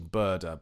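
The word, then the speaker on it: Bodø: Andrew was asked about Bodo's uh their official pronunciation in Norwegian is actually burder, but I can't bring myself to say that. So I'm just going to say Bodo.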